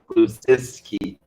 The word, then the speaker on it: Kulusevski: Yeah, how do you pronounce the name? Kulusevski? Kulusevski.